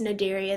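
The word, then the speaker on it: Cnidaria: very important food source for many organisms phm nidaria um pronounced nidaria the sea is silent is is made up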